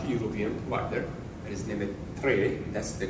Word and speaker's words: Tre: provider that is named Tre. That's the correct pronunciation. I know that sounds like three, and it's three, but it's Tre.